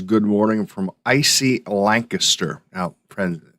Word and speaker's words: Lancaster: good morning from Icy Lancaster. Now, friends, that's how you say it, just so you know, Lancaster. It's not Lancaster, at least not when you're in Pennsylvania. It's not. It's Lancaster.